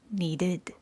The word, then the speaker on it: needed: If the last letter of the word is spelled with a d or a t, the ed is pronounced as a separate syllable with an id sound.